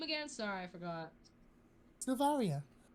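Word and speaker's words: Sylvaria: on what's your name again sorry I forgot Saria how do you spell that s y l v a r i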